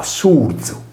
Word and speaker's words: Surzu: Tale prestito, adottato dal sardo, si pronunciava Surzu, contrazione di Suerzo.